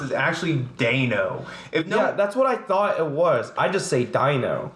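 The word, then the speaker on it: Deino: oh wait so exactly as I said your pronunciative Dino is weird but apparently the way it's pronounced is actually Dano no that's what I would I say Dino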